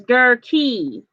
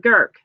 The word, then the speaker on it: Gerke: saying her name is Gerke as in key and I've said gurke so it's a two syllable pronunciation thank you for letting